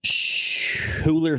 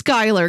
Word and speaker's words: Schuyler: I would think it's Skylar, but there's a U in there. SCHUYLER. I think it's Skylar, because I think that's how the Skylar sisters from Hamilton, I think that's how their name is spelled.